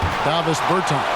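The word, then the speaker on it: Dāvis Bertāns: Oh, well, now, at this point in my life, it's Davis Bertans. Is that how you say his name? Yeah. Davis Bertans.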